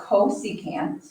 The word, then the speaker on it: cosecant: this one once again we don't say csc this is called cosecant so the cosecant is